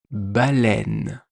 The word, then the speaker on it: baleine: Comme dans le mot une baleine. Une baleine. Il y a le son est au milieu.